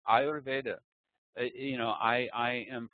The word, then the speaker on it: Ayurveda: I don't say Arveda. I say Ayurveda, you know, I I am pronouncing it carefully and I am serious about it.